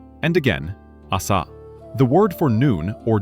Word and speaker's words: あさ: Asa. Now you say it. Asa. And again. Asa.